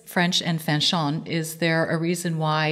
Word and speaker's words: Fanchon: But yeah, Fanchon is just how my parents pronounced it.